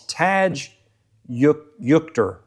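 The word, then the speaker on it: Tadge Juechter: It's Taj Yukter, I think is how you say it.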